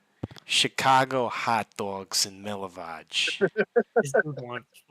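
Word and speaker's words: Milivoj: Yeah, it's spelled M I L I. Oh Jesus. Okay. V O J. Just for notes. Milivage.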